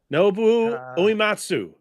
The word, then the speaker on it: Nobuo Uematsu: Yes, you pronounce the name because I'm going to butcher it. Nobuo Uematsu.